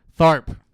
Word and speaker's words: Tharp: Tharp.